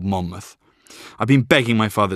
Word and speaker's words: Monmouth: give up geography early Monmouth or Monmouth as I pronounce it is on the fringes